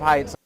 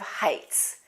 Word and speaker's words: heights: actually really scared of heights Drake said my mom is scared of heights be careful we don't say Heights that's not a th it's an h t that's a common mistake I've heard people say